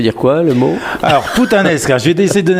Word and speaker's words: puttanesca: Alors de mieux en mieux la prononciation. C'est vrai? Oui, bravo. Alors la recette d'aujourd'hui, on appelle ça la puttanesca.